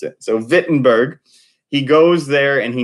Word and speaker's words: Wittenberg: time and remember it's German so we don't pronounce it wit Wittenberg wee wee with a V so Vinton Berg is how he pronounced it so Vinton Berg he goes there and he nails up 95